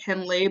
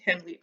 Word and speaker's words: Henle: So Henle is the one that's weird. Like it looks like Henle, but it's because it's someone's name. I think it's German or something. It has a different pronunciation. So that one's just Henle.